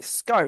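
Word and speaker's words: Schou: Tim um sko um was Tim sorry Tim sco is how you pronounce it um yeah it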